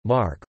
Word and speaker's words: Marche: Marche, Italian pronunciation, Mark, or the Marches, is one of the 20 regions of Italy.